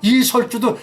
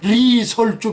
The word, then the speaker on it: 리설주: 인민군 영들의 렬사묘, 열사가 아니라 얘들은 리을을 받치면서 렬사묘, 뭐 이설주도 리설주, 그 리을 발음 넣었잖아요.